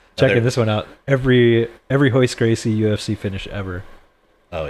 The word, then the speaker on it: Royce: Is it Royce Gracie? I thought it was Hoist Gracie with an H. So they're a Brazilian family, and Portuguese. R's at the beginning of a word are pronounced with an H.